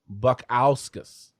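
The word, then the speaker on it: Modestas Bukauskas: So I thank you for the correct pronunciation. There you go. Buckowskis. So I put the emphasis on the wrong syllable.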